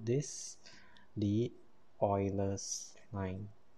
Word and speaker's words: Euler: we call this the euler's line now it's pronounced euler not euler or ruler right and there we